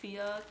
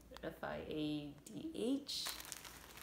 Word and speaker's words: fiadh: And then for yarn acquisitions, I got, ta-da, explore knits and fibers, the fiadh colorway. It's spelled with a F-I-A-D-H, but it's called fiadh, I think.